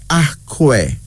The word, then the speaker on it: Akwe: The second African name is Akwe. Akwe. Now, AKWE, that's how it's spelled. AKWE is pronounced as Akwe.